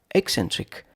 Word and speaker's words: eccentric: Eccentric. 3 syllables.